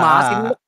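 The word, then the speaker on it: Masinloc: kami ah nito Yung masinlok ah malapit-lapit ah China sii oh mali pronunciation mo oh ah masinlok masin masinlok masinlok yari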